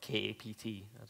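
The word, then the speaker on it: kapt: wanted to switch to using capped or Kay apt the right pronunciation is but one of the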